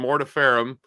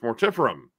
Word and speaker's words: Mortiferum: anvil and uh mortiferum we've been saying it wrong this entire time we have been saying it so wrong for so long we've been calling him mortapharam and it's mortiferum which we found out